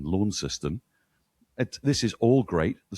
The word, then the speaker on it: Launceston: I mean, for heaven's sake, the fact that they pronounce Launceston Launceston, this is all great.